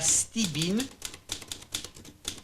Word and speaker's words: stibine: Et la stibine, c'est comme ça se prononce.